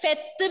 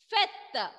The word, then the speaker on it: fête: So everyone, just think that when you get laxo-circumflex, it is just giving an idea about the historical presence of letter S. Nothing else. Doesn't change in the pronunciation. Doesn't make any change in pronunciation.